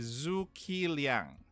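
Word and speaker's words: Zhuge Liang: um zumlian as well the pronunciation is zoo kiliang so those are the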